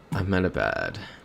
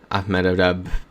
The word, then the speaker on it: Ahmedabad: Ahmedabad. Can't say I know where that is. There it is. India. Yep, Cat's saying India. I think we go for it here. Yep, Cat's saying Ahmedabad.